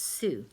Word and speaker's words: Sioux: it's a funny name it's spelled SiO UX but it's pronounced su and these were the